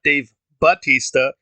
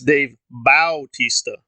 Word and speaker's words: Bautista: the actor's name wrong it's not Dave Batista it's Dave Bautista in fact a double checked and in one of my photos that is his name it is Bautista it is not Batista and also what